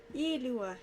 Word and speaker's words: Ilua: Ilua. That's how you pronounce his name.